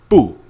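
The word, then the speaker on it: 不: the tone change with Boo by itself it's pronounced fourth tone but when it's followed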